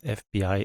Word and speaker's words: FBI: Sven wants to be a or an FBI agent. F, spelled with a consonant, but pronounced with a vowel, F.